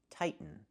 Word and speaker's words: tighten: The verb is pronounced tighten, not tightening. We cannot pronounce the T as a fast D. The word is pronounced two different ways. You can say tighten and make a real T, tighten, or you can make a stop T, tight, and then go to the N, tighten, tightening.